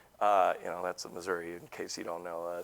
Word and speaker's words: Missouri: you know that's a Missouri in case you don't know St Louis yeah oh really wow oh I appreciate the clarity there Deon really excited to be here it's pronounced Missoura actually Missour sure we'll go with what